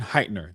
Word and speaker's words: Heitner: Darren Heighten. Hartnet. He let me see how to pronounce it real quick. Darren Heitner. That's it.